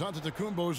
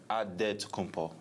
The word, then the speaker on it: Antetokounmpo: The Nigerian way, you gotta say with a D. So it's Antetokounmpo. But in the Greek way, you say with the NT, like Antetokounmpo.